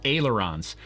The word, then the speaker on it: ailerons: Vivid View says you need to learn to pronounce the word right. It's ailerons.